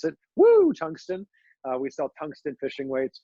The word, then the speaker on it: Woo Tungsten: That's how you have to pronounce it. Woo Tungsten.